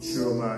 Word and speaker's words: Schurmier: Schurmier is spelled S-C-H-U-R-M-I-E-R, Schurmier Road, Houston, Texas.